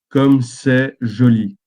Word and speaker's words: comme c'est joli: So, this is you pronounce it comme c'est joli.